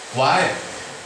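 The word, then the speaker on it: 와: Nomor 7 itu wae. Kenapa dibaca wae? Kita ke nomor 5. Kalau akhirnya A, maka dibacanya wa.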